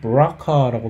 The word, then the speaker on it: BRCA: 또 BRCA, 이것은 BRCA라고 발음을 하는데, BRCA, 이것이 왜 BRCA냐?